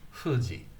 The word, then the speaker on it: Fuji: In Japanese, they blow the air between the two lips, but they hold the lips quite tight when they say hu, and it's hu, Fuji, Mount Fuji, Mount Fuji.